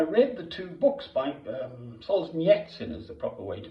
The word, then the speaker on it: Solzhenitsyn: I read the two books by Solzhenitsyn, is the proper way to pronounce it. Alexander Solzhenitsyn, we'd call him in the West.